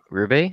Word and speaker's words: Roubaix: Synapse to money, Roubaix? Did that pronounce it? Roubaix?